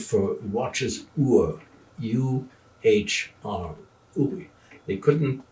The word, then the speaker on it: Uhr: The German word for watch is Uhr, U-H-R, Uri. They couldn't pronounce that.